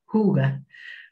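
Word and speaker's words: hygge: Es la primera mezcla que ha creado para doTERRA y se llama, se escribe de esta forma hi, pero se pronuncia huga.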